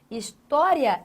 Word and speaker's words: história: História também é uma palavra acentuada. Hã? Agora, qual o motivo de sua acentuação? Vejamos. Você tem aqui a tonicidade em história. Aqui, ó, em história.